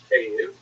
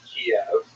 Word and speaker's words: Kyiv: they centered around the city of Kyiv. That's the Ukrainian pronunciation, by the way. It's favored today because, of course, Ukrainian is the dominant language in the country, but it used to be called in English Kiev, which is closer to the Russian pronunciation, because Russia dominated much